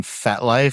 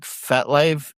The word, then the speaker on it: FetLife: FET, like fetish. Oh, fet. Life. Life. Got it. I was thinking fet, like French for a party.